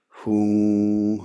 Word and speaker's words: hum: Yeah, it's spelled with an M, but in modern Tibetan it's pronounced with an NG.